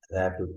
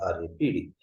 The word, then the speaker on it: RAPD: So they are generally they are pronounced as rapid, not RAPD.